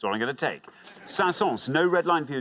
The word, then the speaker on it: Saint-Saëns: I think it's Saint-Saëns, like Saint Saëns, I think that's how it's spelled. It is, but strangely, you pronounce the S in it, so Saint-Saëns.